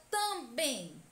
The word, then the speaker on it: também: E a palavra também é oxítona, pois a última sílaba é tônica. Também. A sílaba bem é a mais intensa, a que demora mais a ser pronunciada.